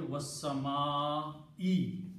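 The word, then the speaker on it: وَالسَّمَاءِ: For the oath to happen, this last dhamma has to change into a kasra. And the pronunciation should be wassama'i now.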